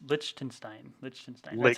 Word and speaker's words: Liechtenstein: It's Liechtenstein. That's how I pronounce it.